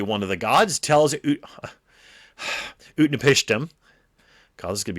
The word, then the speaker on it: Utnapishtim: well, hold on here, Upnatish. I was pronouncing this last week. Utnapishtim. There we go.